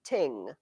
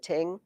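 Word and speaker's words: þing: The Norse word for court, it's funny, is ting. It's spelled like thing, but they pronounce it ting, yes.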